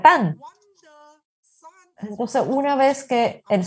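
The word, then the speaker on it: 旦: este significa la mañana este carácter se pronuncia tan entonces una vez que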